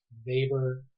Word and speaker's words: Weber: looks like Weaver or Weber his name is pronounced Weber right Max Weber is his name you might